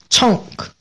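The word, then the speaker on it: chunk: 능 있다고 합니다네 다음은 청크 청크 원래 발음 청크 청크 근데 우리는 그냥 청이라고 하죠 청 첫 번째 뜻은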